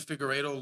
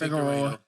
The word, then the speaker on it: Figueiredo: This fight, he made Figueiredo look like not the champion, bro.